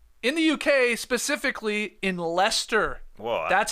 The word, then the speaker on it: Leicester: that's from Will in the UK specifically in Leicester that's how it's pronounced not the soccer team is not leister no I was a liester on the show yesterday my bad my bad